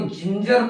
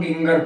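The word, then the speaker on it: ginger: इसी प्रकार जो है GIN GER पढ़ते हैं, इसको जिंजर पढ़ते हैं ना कि हम गिंगर पढ़ते हैं, जिंजर पढ़ते हैं।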